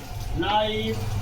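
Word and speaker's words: knife: जैसे for example night, नाइफ, no, knowledge. कुछ ऐसे वर्ड हैं जिसमें के साइलेंट रहता है, के का उच्चारण नहीं होता है।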